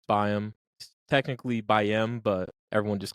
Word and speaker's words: BAYEM: Ado here is my conversation with biome hello welcome to the podcast biome correct is that the right pronunciation yeah yeah it's uh it's Bim technically BM but everyone just calls me Bome it makes more sense it's easier I guess